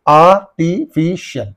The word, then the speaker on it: artificial: And artificial. So, IAL, EL is there. Where is this EL? In this and in these two syllables. What is the syllable preceding the suffix means? That's why you have to say artificial.